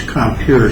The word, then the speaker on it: Compier: Compier is not going to be out of pocket, because she's not going to have to pay anything. It's Compier, it's not the French pronunciation.